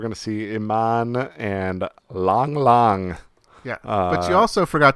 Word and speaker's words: Lang Lang: The world's greatest living pianist, Lang Lang, is coming up, though. Lang, Lang Lang, pronounced long.